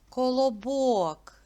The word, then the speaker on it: Колобок: народження до букви Б Колобок вірно поділіть його на склади скільки складів три а ку падає наголос на третій склад бок зробіть звуковий аналіз цього